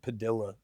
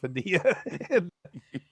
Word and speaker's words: Padilla: She was white, so everybody pronounced my last name Padilla instead of Padilla. And I never really corrected until we moved down here. I started using the correct pronunciation.